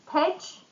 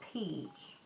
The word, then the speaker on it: pitch: Pitch in business context presentation. So we should say correctly. It's let's practice the pitch not peach.